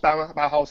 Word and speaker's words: Bauhaus: Or Brewhouse. Brewhouse was the most recent one. Is that German? Bauhaus? Yeah. Then it would be pronounced Bauhaus as in the German art school.